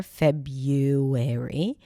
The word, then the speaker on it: February: February and I posted the American pronunciation which is without the original R February and within a week